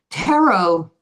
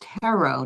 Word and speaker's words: tarot: Tarot, and it's pronounced tarot, not tarot. Tarot is spelled Tarot. The T is silent.